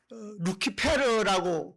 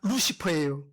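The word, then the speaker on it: Lucifer: 가톨릭에서 천주교에서 쓰는 성경에서 루키페르라고 번역을 했어요. 그거를 영어식으로 발음하면 루시퍼예요.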